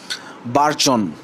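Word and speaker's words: burgeon: তারপর বারজন তারপর বার্জন বারজন এখানে এখানে দেখেন স্পেলিংটা দেখেন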